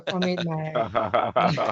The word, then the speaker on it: Omid Mael: So, as you said, you pronounced my name perfectly, by the way. So, Omid Mael. That's the first job done right. It's not French, it's not English, so I'm not mad whenever people are mispronouncing that.